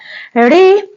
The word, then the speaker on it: ऋ: धन हरष बराबर ऋ हम लोग हिंदी में जो यह री पढ़ते हैं इसी का उच्चारण क्या होता है रहर स का यह हिंदी